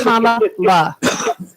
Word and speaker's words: Kamala: It's Kamala. It's Kamala, right? Yeah, Kamala. like comma and then Kamala.